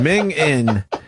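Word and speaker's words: minging: I never heard Mingin. What's Mingin? It's certainly common in eastern Scotland, where the final G isn't pronounced, so it's Mingin.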